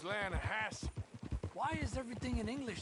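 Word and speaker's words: Lannahechee: You mean the Lanahatchee River? No. The Lanahatchee. It runs right near here. Yeah, but it's pronounced Lanahassee.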